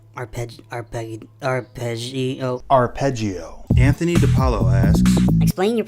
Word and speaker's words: arpeggio: Dave Harbor asks, how do you correctly pronounce arpeggio? Arpeggio.